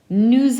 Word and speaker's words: nous: Now I always say to you, don't pronounce the S in nous unless it's followed by a vowel.